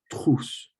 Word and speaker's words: trousse: It's a little bit of a hard word to pronounce with TR, the French TR, and that French R, but it's une trousse.